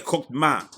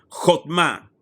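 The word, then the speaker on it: חכמה: ¿Cómo se dice sabiduría en hebreo? Se dice Jotma. Jotma.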